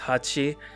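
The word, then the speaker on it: 八: whatever in Japanese um the number 8 is pronounced Hachi so when they put in a whole bunch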